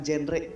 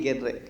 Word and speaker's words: GenRe: sebuah Kepanjangan ya dan dibacanya bukan genre tapi genre yaitu generasi berencana kalau genrema musik yang ya